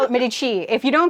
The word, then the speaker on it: Medici: on it yes you're supposed to call it midi chi if you don't call a midi chi then you're doing it wrong apparently and and